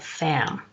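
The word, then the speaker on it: vam: the sacral chakra is V AM and it's pronounced with an F in front so set so it's more like fam during meditation the bow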